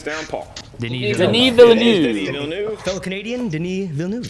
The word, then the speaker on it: Villeneuve: Villeneuve. Villeneuve. Fellow Canadian, Denis Villeneuve. There you go. And you nailed the Canadian.